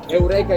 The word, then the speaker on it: Eureka: Yeah, Eureka is the right Italian pronunciation.